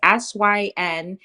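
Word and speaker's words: Synthesia: I was going down that laundry list is one called Synthesa. I think that's how it's pronounced. Synthesa. It's Synthesa.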